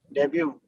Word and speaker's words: debut: Debut. Debut. Correct. It is not debut. It is not debut. Pronunciation is debut. Debut. T silent है and B-Y-O-O. It sounds like debut.